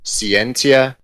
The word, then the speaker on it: Scientia: it's latin and there are two ways to pronounce it um you can either go very similar to how you guys have been saying it which is cientia which is kind of the more modern church latin version or you can say